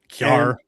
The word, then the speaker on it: Kjar: Weber State hires Eric Kerr, spelled KJAR, but been told it's pronounced Kerr. Kerr.